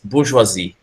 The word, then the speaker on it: bourgeoisie: to pronounce this, is bourgeoisie. And this one we can see that Sorry, state, my microphone was closed when I was trying to help you. It's bourgeoisie. It's French.